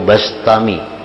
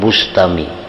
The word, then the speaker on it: Bistami: Yazid albistami atau albastami membacanya bistami atau bastami jangan Bustami jadi Bi atau ba karena dalam beberapa kitab ada yang membarisi mendabitkan B kasril ba bistami ada yang bifatilba bastami Abu Yazid bastami atau